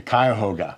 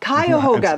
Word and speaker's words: Cuyahoga: with how do you say cuckoo your Hogan Cuyahoga Cuyahoga Valley environmental education that was the one in